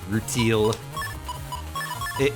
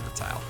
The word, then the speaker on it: rutile: good old rutile ore roule it it's not pronounced like that it's pronounced R tile cuzz it is actually a thing in real life it's RTI as a